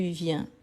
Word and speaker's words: viens: vient je viens tu viens il vient en sachant qu'ici il y a il elle on la terminaison ici s s t est obligatoire sauf que je ne prononce pas donc viens comme bien donc c'est ces son